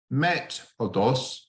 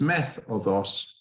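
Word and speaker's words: μέθοδος: And something's funny has happened in how that it's not met οδός, met οδός, it's meth οδός.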